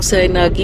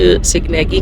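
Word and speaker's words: Sighnaghi: इसको कुछ लोग सैनागी भी कहते हैं और कुछ सिग्नेगी कहते हैं।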